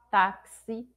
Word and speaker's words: táxi: Isso ocorre nas palavras, por exemplo, táxi. Se a gente fosse escrever realmente as palavras, né, escrever todos os sons ali, tem o som do T, A, do C, do S e do I, táxi.